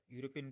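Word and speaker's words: European: ही is dash यूरोपियन tourist, तो ही इज ए यूरोपियन tourist. यूरोपियन बोल रहे हैं, ये का उच्चारण आ रहा है, साउंड आ रहा है, न कि ई का।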